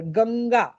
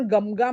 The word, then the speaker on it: गंगा: होणार शंग शंगकर गंगा आपण गमगा म्हणतो का गंगा प्रत्येक अनुस्वारच उच्चारण जर अम असतं तर इथे गमगा शंकर हे उच्चारण अशुद्ध आहे शंकर आहे गंगा आहे याचं कारण श नंतर क आलाय गंगेतला ग नंतर ग आलाय क ख ग मग